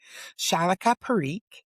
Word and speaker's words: Shalika Pareek: Shalla Periq is here and I pronounced your name correctly.